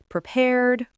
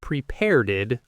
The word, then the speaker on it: prepared: For prepare, it's just prepared, one syllable.